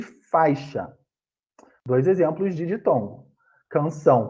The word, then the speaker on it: faixa: Porque senão vai ficar fa e chá. Não, é faixa. A pronúncia é faixa.